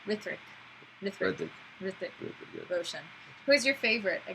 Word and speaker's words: Hrithik: Hrithik. Hrithik. Just like kind of silent. Hrithik.